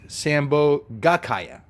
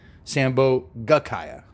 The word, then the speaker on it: sambhogakaya: just say kaya but it's sambhogakaya that's the correct pronunciation nobody got the no prize on that but I always abbreviate it when I say in English because it's just it's that extra GA sambhogakaya right but that's important I guess I guess